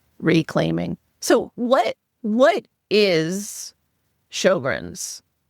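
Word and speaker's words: Sjögren's: So what what is Shoggrren's? Yeah, it's a strange word, isn't it? It uh it's got an S and then a J after the S, which sounds very strange when you pronounce it Shoggrrens.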